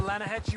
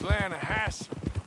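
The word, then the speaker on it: Lannahechee: it down to the Lana Hetchy River caught some beautiful steelhead trout you mean Atlanta hatch the runs right near here yeah this pronounced Lana Hass why is everything in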